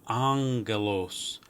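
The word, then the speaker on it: ἄγγελος: Gamma before another gamma or kappa or chi or xi will actually sound like an N. So angelos, angelos.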